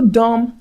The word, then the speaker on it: dumb: A little dumb lamb, not a little dumb lamb. No. He decided to climb the small rocky hill. Okay? It was a tough climb. Okay? So do not pronounce the B.